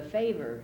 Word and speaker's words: fever: But how about she died of a fever and no one could save her? She died of a favor and no one could save her. They used to pronounce it favor.